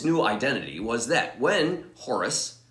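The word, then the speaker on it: Horace: identity was that when horus probably pronounced oras in french falls in love with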